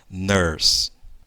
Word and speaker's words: nurse: E uma vez mais, ó, esse Ezinho no final não é pronunciado, olha lá. Nurse.